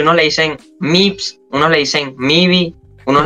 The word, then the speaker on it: MYVS: me dijo No mira se pronuncia tal se pronuncia mips No creo que es graduado en literatura y todo eso se pronuncia así mips y yo me quedo con ese que más